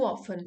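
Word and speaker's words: often: और दूसरा वर्ड था हमारा वंस टू ऑफन। ये एक फ्रेज़ है। इसका मतलब है ऑफन। ठीक है? यहां पे टी साइलेंट है।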